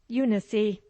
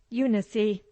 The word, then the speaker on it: Eunice: as you like selena here we say unicy with the accent on the eye and with the final e sounded unicy let me give you